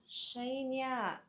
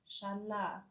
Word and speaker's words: Shania: Oh, it's Shania. Okay, thank you, Shania. Sorry, I've been pronouncing your name as Shanla. I realized that it's an I.